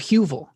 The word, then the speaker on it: Heuvel: Is How it do I say Hoovel or it? Huvel? Danny got it. Huvel. Oh, Oh, so I okay. put the It's Hugh? like H Yeah. U.